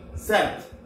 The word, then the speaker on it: sept: Spelling is same, but the pronunciation C's. C's. 7. S E P T. Set.